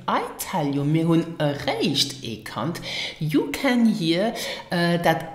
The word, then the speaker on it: eréischt: I am talking about erreicht. Now listen and repeat after me for the correct pronunciation.